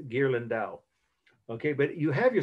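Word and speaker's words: Ghirlandaio: a break the artist name gerland dao right is a i g-h-i-r-l-a-n-d-a-i-o you pronounce gerlin dao okay but you have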